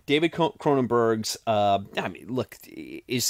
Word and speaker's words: Cronenberg's: I'm very proud of myself because I'm finally pronouncing his last name correctly David cronenberg's uh I mean look is this the best